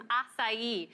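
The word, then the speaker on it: açaí: do that with some acai. And just for anyone out there, that's how you pronounce that berry, acai. It's from the Amazonian rainforest.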